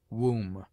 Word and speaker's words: womb: obtains in other languages it is mute in debt debter subtle doubt lamb limb Dum thumb climb comb womb it is used before